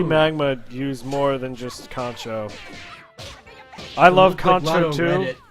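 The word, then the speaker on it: kanchou: like to see magma use more than just concho i love contour too like yeah concho's a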